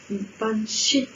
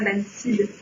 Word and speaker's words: banshee: Donc on sait bien qu'on prononce banshee et non pas bansid.